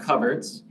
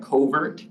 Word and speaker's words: Coverts: that organization, so it's Vermont Coverts, which is spelled like covert, Yeah, Coverts. it's just not covert.